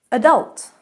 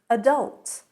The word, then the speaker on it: adult: Adult. Adult in American. Adult in British.